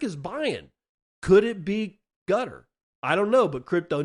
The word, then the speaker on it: Qatar: As in, well, other people pronounce it Qatar, but gutter, I think, is the most reasonably pronounceable word.